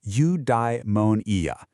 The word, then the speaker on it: eudaimonia: Big Greek word eudaimonia. It's pronounced eudaimonia.